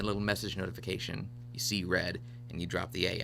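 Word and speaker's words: Re(a)d: Called Red, but it's spelled R-E A parentheses A-D.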